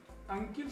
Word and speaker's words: अंकल: इसी तरह पुरानी फिल्मों में देखेंगे तो अंकिल शब्द आता है। आज अंकिल कोई नहीं बोलता, अंकल बोलते हैं, तो इसका उच्चारण हम सब अंकल ही करेंगे।